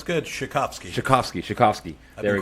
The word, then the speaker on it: Shikofsky: Shikofsky.